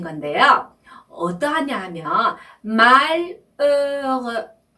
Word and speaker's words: malheureux: 먼저 부분에 u는요. 입술을 오를 조금 크게 벌리신 다음에 에 소리를 낼 때 나는 발음인데요. 이런 소리고요. 뒤에 나오는 뒤에 나오는 u는요. 오를 입술을 또 조금 더 작게 벌린 상태에서 입의 앞부분에서 나오는 에 소리를 낼 때 나는 발음이에요. 그죠? 그래서 이렇게 발음을 하시는 조금 앞에 거보다 뒤에 나오는 부분은 더 작은 예요.